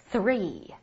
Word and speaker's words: three: 三应该读成 three，看老师口型，舌尖